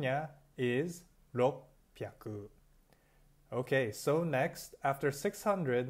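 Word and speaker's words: ろっぴゃく: general ed partner so remember now indicia simply Roku Haku it's a awesome on a special case nothing 600 no Kisei on pronunciation yeah is lo p aku okay so next after 600 Marin time 45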